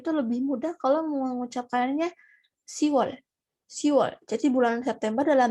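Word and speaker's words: 시월: Tapi kalau buat orang Korea sendiri itu lebih mudah kalau mengucapkannya Siwol.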